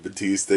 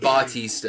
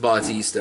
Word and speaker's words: Bautista: I can't call him Dave Batista. You can call him that all you want, but that's Batista. No, technically his name is Dave Bautista. His name is pronounced Bautista.